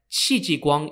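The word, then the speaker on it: Qi Jiguang: comes into the story the second person's name is spelled q-i-j-i-g-u-a-n-g unlike Shin who is often underrated XI ji Guang is considered a hero if not the main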